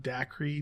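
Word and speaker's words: DAQRI: intrigued with there's a company called daiquiri da QR I like pronounce like the drink daiquiri right but but these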